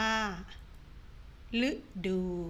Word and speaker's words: ฤดู: ว่า ฤทธิ์ แต่ ฤดู ก็ อ่าน ว่า ฤดู แต่ ฤดู อ่าน ว่า